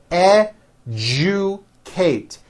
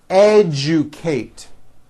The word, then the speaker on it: educate: objective majesty educate that has also an unusual pronunciation let me break it down for you e ju kate educate next one this one's